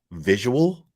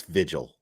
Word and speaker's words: vigil: proper it's not difficult there's a difference between three syllables and two visual is not what that is it's vigil it's vigil and that's not a